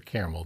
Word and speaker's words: caramel: Carmel is Carmel, right? Carmel. So Yeah. there's no A in the middle there, which for caramel there is. So or caramel, Cara, like Louisville.